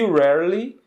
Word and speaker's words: rarely: E rarely que é raramente, né? Rarely, né? Um pouco difícil de pronunciar para nós brasileiros, né? Por causa dos dois Rs, né?